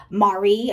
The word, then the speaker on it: Maree: the first time today Mari I think is how it's pronounced m a r e